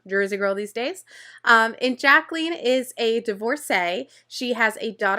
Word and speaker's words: Jacqueline: Next, we meet Miss Jacqueline. Jacqueline is really, really sweet. By the way, sometimes people in the show call her Jacqueline.